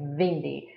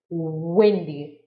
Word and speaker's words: windy: first language mother language sometimes it's pronunciation of w is difficult so they say vindi so you need to practice windy windy windy that's windy bravo so